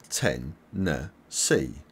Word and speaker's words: Tennessee: Carolina and Virginia and you pronounce Tennessee like this 10 NE C Tennessee Tennessee subscribe for more